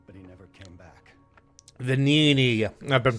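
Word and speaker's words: Venigni: My friend, the inventor Venini, went to stop them, but he never came back. Venini. I've been pronouncing that wrong.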